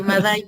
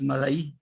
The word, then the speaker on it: Madai: pues yo soy Madai porque no tengo acento tampoco. A eso me refería, que normalmente el nombre es Madaí, ¿no?